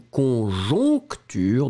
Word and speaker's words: conjoncture: Le premier, conjecture, d'accord? Conjecture. Et le deuxième, conjoncture, donc nasal, nasal. Conjecture, conjoncture. Voilà.